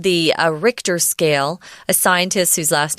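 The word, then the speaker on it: Richter: can say with numbers it's called the uh RoR scale a scientist whose last name was RoR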